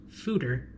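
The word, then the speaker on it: foeder: a Fodor the beer connoisseur did a photo pronounced Souter I figured I was pronouncing it wrong in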